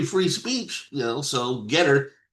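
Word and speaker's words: Gettr: So, Get her. It's spelled Ge TR.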